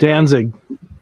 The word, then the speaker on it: Danzig: The Misfits Glenn what's this last I can't pronounce it Danzig good dance it yes yeah he's actually releasing